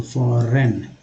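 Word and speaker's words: foreign: फॉरेन, फॉर, जी एन में जी जो है साइलेंट है तो फॉरेन।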